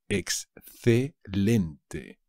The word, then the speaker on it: excelente: el número Exacto excellent excelente ex lente cuidado it loses One l excelente esto es un